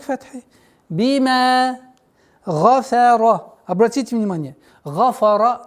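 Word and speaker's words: غَفَرَ: Гафара нет. Фа никогда твердое произношение не будет. И нет в арабском языке, чтобы фа твердо произносилось. Гафара. Гафара нет. Гафара. Твердый, мягкий, твердый.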